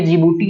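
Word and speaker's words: Djibouti: तो यहाँ सबसे छोटा आप देख रहे हैं ये जिबूटी है, डी यहाँ पे साइलेंट होता है, ये जिबूटी है।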